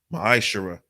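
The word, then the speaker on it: מעשר: through 10 means tenth in the hebrew it's pronounced maisha 10 of every penny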